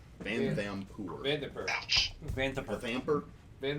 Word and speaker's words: Vanthampur: Vanthampur. How'd you spell it? Van, V-A-N, like the truck, or van. It's like T-H-A-M like Mike, P-U-R. Vanthampur.